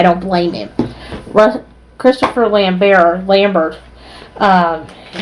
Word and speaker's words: Lambert: blame him Christopher Lambert Lambert um I'm pronouncing his name the French way because he is French incidentally turns out uh